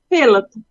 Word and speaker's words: Philp: of your last name it's Philip Philip p h i l p Phil philp Phil so